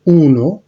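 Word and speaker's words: uno: 1 হচ্ছে উনো, 2 এর জন্য উচ্চারণটা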